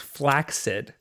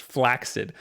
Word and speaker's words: flaccid: Also, flaccid is pronounced flaccid. By who? By the dictionary. Like, it's supposed to be pronounced flaccid, but nobody pronounces it like that. They say flaccid.